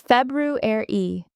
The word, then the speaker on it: February: People often say February, skipping the R, but it's February. Don't forget that first R, Valentine's Day, is on February 14th.